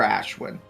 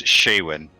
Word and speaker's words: Shaywin: far to look for Ashwin and where are you headed it's uh it's shaywin I apologize that's how we would